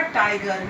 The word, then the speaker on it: Tyger: जब हम इस पोएम को पढ़ते हैं तो सबसे पहले तो देखिए इसमें टाइगर की स्पेलिंग ली गई है TYGER, ठीक है। तो स्पेलिंग ये होने पर भी प्रोनाउंसिएशन हम इसका टाइगर ही करेंगे।